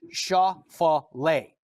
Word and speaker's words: Schauffele: PGA Tour says that the name should be pronounced. This is from the PGA Tour themselves, and they're saying it should be Schauffele.